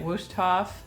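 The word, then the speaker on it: Wüsthof: But they're I don't know how you say it, Wusthof. I think it's a German.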